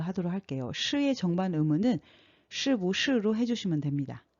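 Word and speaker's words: 是不是: 그래서 시부시라고 사용해 주시면 되고 부는 경성으로 발음해 주셔야 됩니다.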